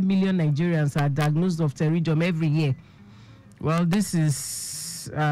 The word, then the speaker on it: pterygium: Yeah, PTERYGIUM. Can I commend you again for pronouncing it well correctly?